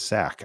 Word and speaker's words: Sack: Today I learned that the name is Sack. I always thought it was Zach, but mispronounced for humorous purposes.